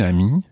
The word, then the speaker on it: amie: Now, ami sounds the same both in the female and the male versions, although un ami, the male friend, is spelled A-M-I, and une amie, the female friend, is spelled A-M-I-E.